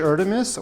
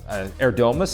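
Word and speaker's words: Erdoğmuş: in 3 years, Yuj Erdemis or Fausti Oro? Interesting pronunciation. That's not what the Turkish people told me how you pronounce it. But anyway, in 3 years, Erdomus is what I was told online.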